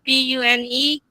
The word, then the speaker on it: Pune: Pune is spelled p u n e pronounced Pune.